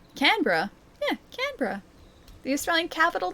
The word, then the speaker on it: Canberra: When Wait, when you say Canberra, so wrong. Wait, Canra.